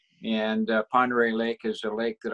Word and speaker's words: Ponderay: So it looks like Pandorial, but it's Ponderay. That's how I was pronouncing it. I was pronouncing it Pinderile.